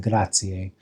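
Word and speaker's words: grazie: Um because the word ends with an I in an E and E is the I is pronounced E and then the E is pronounced A which is a bit confusing.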